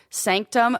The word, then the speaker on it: SNCTM: There's one called Sanctum, and it's spelled SNCTM, which I'm already annoyed with.